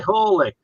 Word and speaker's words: Hawley: spelled but it's phonetic h-a-w-l-e-y and so we know that that's how we pronounced it as well as you can know anything from the 17th century wow okay actually holy I'll tell you the